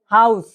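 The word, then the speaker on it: Haus: উচ্চারণ হবে বাক্যের শেষে থাকলে হালকা চর মত উচ্চারণ হবে যেরকম কি স্টা হাউস হাউস এইযে শেষে শেষে যখন এসটা আছে এটার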